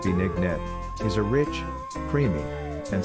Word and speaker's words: binignit: Binignit, pronounced bee-nig-nit, is a rich, creamy, and satisfying Filipino dessert soup.